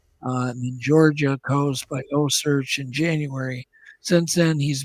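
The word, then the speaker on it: OCEARCH: I would say O-Search. Osearch with a C.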